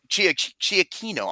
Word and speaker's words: Giacchino: He is also Giacchino. It's pronounced Giacchino.